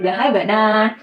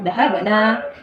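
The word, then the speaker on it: ذَهَبْنَا: Nahnu menjadi dahabana. Nanya panjang, huruf akhirnya disukun kemudian nunnya berfathah panjang. Beda ya dengan yang hunna tadi. Hunna nunnya pendek, cara bacanya dahabana.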